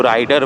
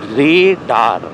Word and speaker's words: Raider: কেউ রাইডার বলে, কেউ রেডা বলে. It's neither রাইডার নট রেডা, ইটস রেডার. ইটস RAIDER, রেডার. যেরকমভাবে আমরা রেডার, সোনার রেডার বা এসব প্রোনাউন্স করি, তো ইটস লাইক দ্যাট.